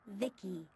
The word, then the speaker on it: VI: then by the way I'm VI I pronounced Vicky my Creator was Vib